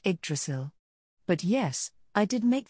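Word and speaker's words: Yggdrasil: I hear that you the journey here from your homeland, Yagdrazzle, all by yourself. Is that correct? Iselk asked while cutting off a piece of bore and slipping it into his mouth. It's<unk>s pronounced eggdrasil.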